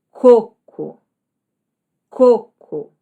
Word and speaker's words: coco: A sem acento, você vai ler como coco. Coco. Algumas regiões vão falar coco, como se fosse um U, tá?